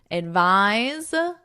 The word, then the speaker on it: advise: Advise, advice. So notice the pronunciation difference. Advice, advise. Advice, advise. This is our noun and this is our verb.